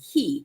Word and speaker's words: cay: these islands tonight so c-a-y is pronounced key but the I think